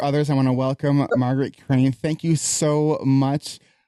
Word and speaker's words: Margaret: It's Margaret. It rhymes with Target.